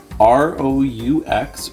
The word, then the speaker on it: roux: And this is another French term, R-O-U-X, pronounced roux, as in you will rue the day when you make terrible, terrible jokes like me in front of your spouse.